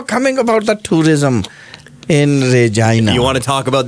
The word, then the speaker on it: Regina: that the city of Regina came up with. Are you ready, Rishi? One of their slogans was... Unfortunately, yes, I'm ready to. One of the slogans was Regina, the city that rhymes with fun.